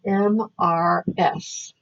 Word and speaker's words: Mrs.: It is capital M-R-S. And it's pronounced Mrs., but it's written M-R-S.